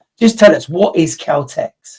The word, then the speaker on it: KELTX: Did I pronounce it right? Is that what this is? Calteex. It is indeed. Yeah, that's exactly what it is.